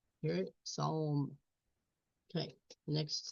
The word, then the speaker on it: psalm: You have to listen closely for the O sound in this word, but it's there. Psalm. Psalm. Hear it? Psalm.